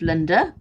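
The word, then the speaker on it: Lynda: to get hold of linda her name is spelled l-y-n-d-a linda sunshine west yes so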